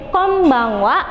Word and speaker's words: konbanwa: Jadi dalam bahasa Jepang pengucapan huruf N ada tiga macam. Yang pertama yaitu N atau konnichiwa, yang kedua yaitu N dibaca M yaitu konbanwa, atau dibaca eng, eng, ng, konbanwa, boleh. Jadi bukan konbanwa, jadi lebih biar terkesan natural begitu.